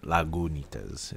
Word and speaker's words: Lagunitas: because we're speaking of la guanitas lagunitas is uh how they say you should be pronouncing that uh brandon is inspecting